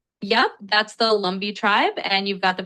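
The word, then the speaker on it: Lumbee: That's the Lumbi tribe and you've got the pronunciation right?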